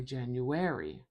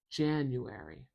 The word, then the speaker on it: January: I don't say January. January. I say January. January. Stress at the beginning of this word, so we want to put the primary stress marker at the beginning of that syllable.